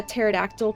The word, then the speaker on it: pterodactyl: Why can't you hear a a a pterodactyl pee? Is it Why, hippie? Anti- jokes. Dude, I love those cuz they're extinct. Oh, I thought maybe it was because Oh, also the P is silent.